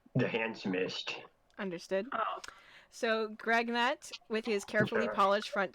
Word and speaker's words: Gregnut: It's spelled G-R-E, and another G, and then all in the same word, N-U-T, Greg Knight. Understood. So in your tongue, it means the handsomest. understood. Oh. So Gregnut, with his carefully polished front 2 teeth and